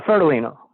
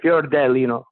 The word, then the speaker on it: Fiordilino: messed it up uh fertilino and an italian is pronounced fiordelino like this dell perfect okay okay so